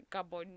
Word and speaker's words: Gabon: It's a Gabon news. It's Gabon newspaper, yeah, obviously. Gabon. The N is more of like silence. You say it like an Austral kind of way.